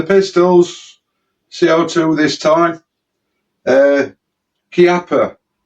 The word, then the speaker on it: Chiappa: CO2 this time uh Kappa the way it's spelled it looks like Chiappa but as I understand it it's pronounced Kappa the an arms manufacturer